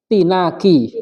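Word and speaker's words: اعتناق: Aslinya i'tinaq. Nah, kenapa di situ nggak pakai kepala? Karena itu adalah hamzah wasl. Karena kalau nyambung dengan kata sebelumnya, dia akan nyambung membacanya. Artinya hurriyatu tinaki.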